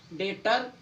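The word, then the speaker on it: debtor: Next, जब बी के बाद टी आए, जब बी के बाद टी आए, जब भी बी के बाद टी आएगा तो आपका बी साइलेंट होगा। डेटर, डाउटर, शटल, देखो बी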